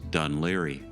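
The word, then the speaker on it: Dún Laoghaire: Yes, what you see there is Dunleary. And how do I know that it's pronounced Dunleary?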